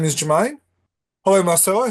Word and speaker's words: Marcelo: No, it's Marcelo. That's right. It's Marcelo. It's not Marcello. If it was Marcello, it'd be spelled double L.